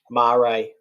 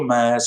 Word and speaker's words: mare: chat about uh the most famous sea or marie i said it right steve you're proud well done you can you can call the mayors if you want to i i i'm okay